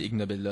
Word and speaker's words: Ig Nobel: La prononciation d'Ig Nobel ressemble à celle d'ignoble en anglais. Ah, et comment ça fonctionne ces Ig Nobel-là?